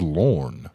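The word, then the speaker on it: Lorne: I don't even know how you could Hey yo, does that pronounce Lauren? L O R. Lauren. Let me see it again. L O R N E. That's Lauren. Yeah, that's Lauren.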